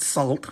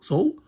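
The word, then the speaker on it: Soult: I was mispronounce that it's not salt but so Soul uh D morat the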